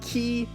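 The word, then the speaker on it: quay: It is Key Anarchy, and yes, you pronounce it key.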